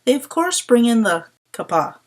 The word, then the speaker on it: kappa: course bring in the Kapaa romanized as k APPA and pronounce it like they would pronounce the Greek letter as Kappa interestingly their take on